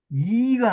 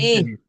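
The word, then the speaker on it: 李: 뭐, 아니, 이가 아니라니까, 이가. 이거는 우리가 잘못 부르는 거예요. 이거 본래 이거 무슨 아리, 리자예요? 아리고, 아리. 오얏 리자예요. 아, 리자. 리자. 오얏 리자라고. 근데 전부 우리는 이로 발음해버려요.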